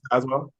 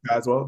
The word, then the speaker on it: Tazewell: Linkin is perfect aswell yeah LinkedIn is perfect aswell t a z w l l always get a lot of lot of things because the E is silent but yeah link in